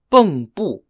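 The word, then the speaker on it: 蚌埠: around the cities of shujol spelled x-u-z-h-o-u and boom boom spelled b-e-n-g-b-u the area around was an important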